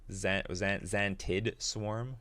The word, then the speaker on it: Xantid Swarm: Am I pronouncing this right? Xantid Swarm.